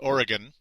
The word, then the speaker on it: Oregon: they travel North to Portland Oregon not Oregon Portland Oregon that's how it's properly pronounced according to people I've met in the day from there um Randy Foy